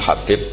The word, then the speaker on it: Habib: yang nulis Abi Abdurrahman Habib asulami itu di harakatnya kitab itu ada yang nulis hubb Yang benar Oh giih yang benar itu bacanya habib habib itu asulami itu